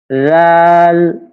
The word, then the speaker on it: ذال: ذال، ذال، ذال، ذال، ذال، ذال، ذال. ذال، ذال، ذال، ذال, ذال, ذال। এটা অনেকটা নরম করে উচ্চারণ করতে হবে।